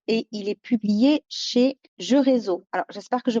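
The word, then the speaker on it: Géreso: Il a été écrit par Laetitia Blondel et il est publié chez Jeux Réseau. Alors, j'espère que je prononce bien.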